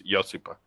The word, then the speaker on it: Josipa: the J is like a Y, so it's Josipa.